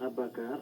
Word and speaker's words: Abakar: C'est comme ça qu'on prononce votre nom? Oui, c'est bien Abakar, A-B-A-K-A-R.